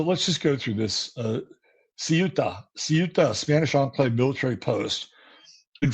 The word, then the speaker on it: Ceuta: So, how do you say it? Let me see here. I got to go into the Encyclopedia Britannica. It's Ceuta. And why don't we just take a look at it?